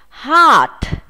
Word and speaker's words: heart: Heart, heart. Các em lưu ý có t ở đằng sau, chúng ta sẽ phải bật hơi chữ t này nhé.